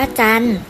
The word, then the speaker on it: จันทร์: อย่าง เช่น คำ ว่า จันทร์ เรา ไม่ ออก เสียง ทั้ง ทหาร และ รอ เรือ ค่ะ เวทมนตร์ ก็ ไม่